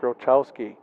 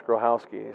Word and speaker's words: Grochowski: Coach said, "Here, let me write it phonetically for you because everybody says Grochowski." I said, "Oh yeah, we had that same student that graduated last year, and it's Grohowski."